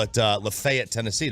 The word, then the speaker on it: Lafayette: you say it like Gaylord that's how they pronounce it up there I did not know Taylor Gaylord they call it uh Lafayette Tennessee not Lafayette so you got you know I bet you're